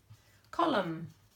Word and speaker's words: column: list of word partners column I can't hear that n can i but someone who writes